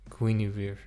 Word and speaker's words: Guinevere: And yes, I finally learned how to pronounce it. Guinir Guinir.